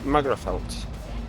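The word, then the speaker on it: Magherafelt: Well, I'm having a quick pit stop in uh is it Magafelt? Been told it's pronounced.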